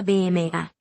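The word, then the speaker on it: βῆμα: De hecho, cuando ves la palabra tribunal, u en tu Biblia en inglés, esa es una sola palabra griega que se pronuncia BMA.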